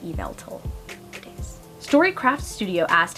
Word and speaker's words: Yveltal: BT dubs, it is pronounced Yveltal.